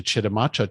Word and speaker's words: Chitimacha: He works primarily with the, this one I need some help pronouncing, but I think it's Chitimacha Tribe. Is that right? Yep, exactly. Yep. So he works primarily with the Chitimacha Tribe of Louisiana to help them revitalize their once-dormant language.